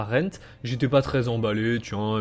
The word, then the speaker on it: Rend: Alors aujourd'hui je vais vous présenter Rent, voilà Rent, ça se prononce Rent, un MMORPG de survie qui va sortir normalement en 2018.